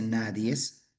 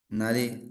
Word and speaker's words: nadie: Profe, sí, nadie, no se dice nadies, ¿ya? Nadie nació sabiendo como usted sabe. Es nadie, ¿ya?